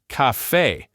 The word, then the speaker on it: caffè: If a word breaks all the other rules and puts the stress on the very last syllable, the spelling will give you a giant clue, a written accent mark. So you literally never have to guess. If you see that little accent mark, you stress that syllable.